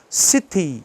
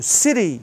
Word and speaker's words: city: Letra Y no final, a gente já tem que pronunciar. Mas nós temos a tendência de ter medo de pronunciar o brasileiro. Então, por exemplo, city ou city, a cidade grande, o